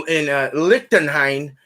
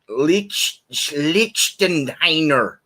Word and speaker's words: Lichtenhainer: So again, this information is from BJCP, and it's in the historical beer category, and it's pronounced Lichtenheiner or Lichtenheiner. Let's just go with that.